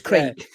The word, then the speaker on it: Craig: Unless it's spelt Creg, it's Craig.